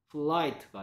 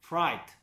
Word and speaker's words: fright: 또 L처럼 발음한다. 플라이트가 아니고요. 프라이트.